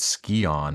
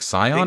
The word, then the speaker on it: scion: Oh, by the way, yes, they pronounce it Scion in this game. They do. I thought it was just Larson, and I thought it was just because he was like dumb, but I think Lara says it also. But like Scion is a word, guys. Yeah. Scion is a word, and that's how it's pronounced.